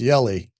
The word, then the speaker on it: Hjelle: It says It said in my pronunciation, it sounds like jelly, but it's Yulisse. So, the H is silent, I guess.